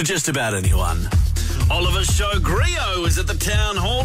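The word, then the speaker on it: griot: it Grio I want to say G it it it is Grio many many times people have just said G it and I'm like that that's not it um just uh it's just G with a silent what does it mean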